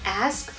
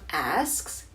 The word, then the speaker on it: ask: Next time, can you please pronounce the word ask correctly? The S comes before the K. A-S-K, not A-K-S. Your thoughts will be more credible if your pronunciation is correct. Okay. Now, there are many things I can say about this comment. The first being that the pronunciation of asks, like axe, has been around much longer